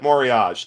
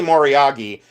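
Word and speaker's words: moriage: So I we always said Morage. I don't know why, but we did. So anyways, it's probably Moryagi and for you know for 30 years antique dealers have said it wrong.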